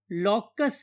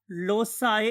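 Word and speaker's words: loci: अगर आप इसे सी बोलेंगे तो लोसाई बोला जाएगा, अगर आप इसे के की आवाज बोलेंगे तो फिर ये लॉकी कहलाएगा।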